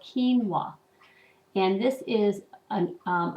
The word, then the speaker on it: quinoa: and there it is now how would you pronounce that quinoa actually it's called quinoa and this is an um a grain and